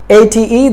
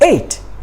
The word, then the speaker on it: ate: At is the wrong pronunciation, so you should not pronounce the word at. It's ate.